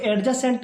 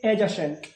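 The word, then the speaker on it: adjacent: प्यारे छात्रों याद रखना यहां पे आप लोग एडजेसेंट मत पढ़ना क्योंकि D will be silent before जे। जे के पहले डी यहां पे साइलेंट रहेगा। इसको पढ़ेंगे एजेसेंट।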